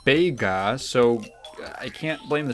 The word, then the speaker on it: Bega: spelled it's a mess Vega's name is technically written like this which is pronounced bega so I can't blame